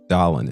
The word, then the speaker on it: Dallin: Mr. John Bursick says, pronounced Dallin, isn't it?